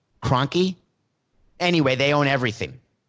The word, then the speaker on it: Kroenke: business owned by the cranky fan cranky I just said cranky I don't think that's how it's pronounced Kroenke anyway they own everything